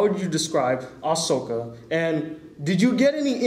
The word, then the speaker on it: Ahsoka: you voice a character by the name of oakano I pronounced that right I hope Ahsoka Ahsoka close dang I'm no you were you were close but you said Tano right oh well cuz I